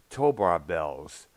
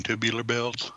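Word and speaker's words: Tubular Bells: you mean tubular bills jubilee or bells thank you i always said pronounce i have trouble pronouncing that word there for some reason and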